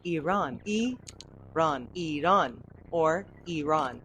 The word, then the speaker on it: Iran: It's Iran because Yeah. only Americans use the I. Yes. as an I. Everybody Yeah. else uses it as an E, Right?